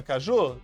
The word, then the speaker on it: Caju: Caju, Caju, qual é a sílaba forte? Ju. A sílaba forte é Ju. Agora, é uma oxítona ou não? Sim, olha lá, a sílaba forte é Ju, é a última sílaba é forte.